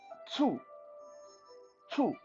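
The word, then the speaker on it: 醋: don't really know vinegar in mandarin is called two two this is a little bit of a awkward thing for non-mandarin speaker to pronounce so think of it as p s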